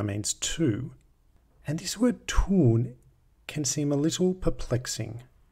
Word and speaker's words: tun: It's got nothing to do with the German word tun, as in tunfisch, which is the word for tuna, but pronounced exactly the same.